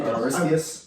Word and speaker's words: Aristeas: Aristeas.